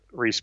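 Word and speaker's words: Reiss: But Reese is spelled R-E-I-S-S, and his popular style book is called Who Am I?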